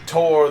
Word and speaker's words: Thor: like yes i am tore the god of thunder and we're like oh no the h is silent it's like huh really